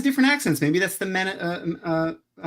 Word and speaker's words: Manetheren: Maybe that's the Manetheren accent. For You mean Menetherin?